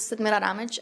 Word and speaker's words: Sadmira Ramic: My name is Sidmira Ramij, and I am the voting rights attorney at the ACLU of Nevada.